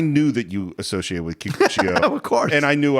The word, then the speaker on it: Kikuchiyo: That's funny because I've always connected to Kikuchiyo. Is that how you say it? Yeah. Is that how you say it, Steve? Kikuchiyo. But this idea of... No, it's Kikuchiyo.